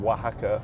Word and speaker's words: Oaxaca: We spell it W-A-H-A-C-A. Oh Literally my God. like Oaxaca.